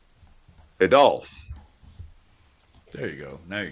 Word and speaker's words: Adolf: You're putting the wrong enunciation on the wrong syllable. Adolf.